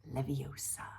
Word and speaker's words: Leviosa: movie Harry Potter Herm Granger and Wingardium Leviosa Wingardium Leviosa stop stop stop you're going to